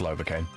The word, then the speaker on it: Lovakengj: Okay, we are now off to Lovacaine. Novocaine. I was thinking Novocaine. Yeah, it's spelled Lovakengjj. And pronounced Lovacaine. Or even Lovacaine.